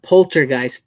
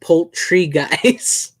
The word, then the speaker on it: Poultrygeist: Not Poltergeist. Poultrygeist.